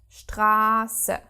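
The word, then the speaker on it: Straße: vowel is pronounced short if we have this s set after a vowel the vowel is prolonged example which means street maybe you have seen that strasse the r sound becomes so long because we have this s set following for example um gasser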